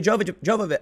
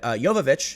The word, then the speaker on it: Jovovich: no one had a problem with me a Java job of it Jovovich that I pronounced it but now let's bring out the